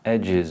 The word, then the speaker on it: edges: Edges. Edges, yeah, edge. Edges. Yeah. Extra syllable.